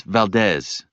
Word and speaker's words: Valdez: Actually, it's Valdez. How do you spell that?